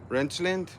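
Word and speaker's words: Reichelt: John wants to bring, her name is Lauren Wrenchland, I want to say something like that. Her last name is spelled R E I C H E L T.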